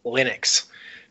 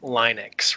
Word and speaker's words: Linux: Luna store holds and I pronounce Linux Linux because people were calling it Linux right because right trying to make it sound like his name this looks different looks